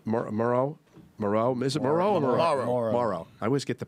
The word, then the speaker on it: Morrow: Is it Morrow or Morrow? Morrow. I always get the pronunciation Morrow, and then it goes on and on.